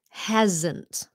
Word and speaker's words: hasn't: time non-native speakers foreign this should be a z sound hasn't hasn't okay it's one